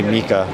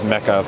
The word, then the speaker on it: Mecha: Japanese pronunciation would be Mika. I grew up as Mecha, but I was corrected earlier today.